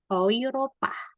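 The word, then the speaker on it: Europa: E U itu dibacanya o I. Jadi bacanya apa? Oi ropah.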